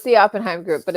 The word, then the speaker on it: Oppenheim: no so it's the oppenheim group but it's okay how do you say again oppenheim oppenheim sorry everyone say it's okay people say Oppenheimer too and I'm just like there's there's no ER yeah and they're like